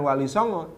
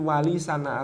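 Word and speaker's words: Walisana: atau kitab Wali sana ternyata pelafalan di Kraton itu bukan Wali Songo tapi Wali sana atau Wali Songo Wali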